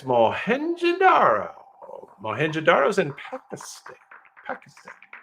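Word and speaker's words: Mohenjo-daro: you go mu we knows the answer it's madaro madaro is in Pakistan Pakistan 2600 BCE and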